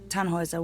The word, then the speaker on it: Tannhäuser: Tannhauser. We'd pronounce it Tannhäuser with an umlaut.